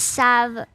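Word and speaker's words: salve: It's typically pronounced as sav.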